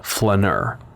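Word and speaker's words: flâneur: la la new or pronounced with an American accent butchering the French la Flener spelled f la with an accent n e you are the Flener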